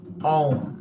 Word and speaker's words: Om: process I was saying to say a mantra om most people make the mistake of thinking that this Mantra is pronounced on a-u-m um um not um